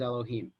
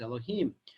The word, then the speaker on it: Elohim: to the fact that it is written as you Dave Ave and sometimes it is pronounced as Elohim you must know that